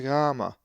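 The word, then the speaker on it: γάμμα: is the upper and lowercase gamma, which looks different than any English letter, but is always pronounced as ga, as in God, not ja, as in huge, but ga.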